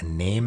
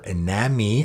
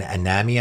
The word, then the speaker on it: Iname: I have my Name as one, or Iname, I guess it's called. Again, I was corrected on my pronunciation, and Iname, I think it's pronounced, which I already talked about.